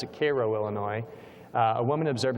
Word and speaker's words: Cairo: this is in Koo not not to be pronounced Cairo but they pronounce it Koo Illinois uh a woman observed a triangular-shaped object at 9:30 p.m.